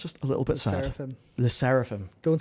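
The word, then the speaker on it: LE SSERAFIM: The just, you know, Lysephirim or whatever. Yeah. And to me, that's just a little bit sad. Lyseraphim.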